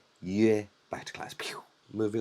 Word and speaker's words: yue: So just remember, if you see a Y followed by a U, it's definitely this U.